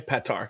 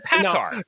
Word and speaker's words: Petar: Yeah, the right way. Petar. Okay, that's that cuz I that's I believe I've always pronounced I said Patar Rob I you know I love you like a brother.